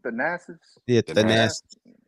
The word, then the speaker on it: Thanasis: Thanasis?